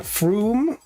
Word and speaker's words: Frome: It's Frome with an O, but it's pronounced Frome for some reason.